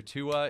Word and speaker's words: Tua: So everyone who said Minister Tua in the poll is correct, and I will forever now pronounce it Minister Tua. That's funny. I have no idea where I got Twa from.